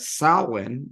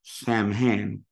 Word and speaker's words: Samhain: They go out at Samhain or Samhain. I prefer to say Samhain because that's the way you pronounce the band from the early 80s that I quite like.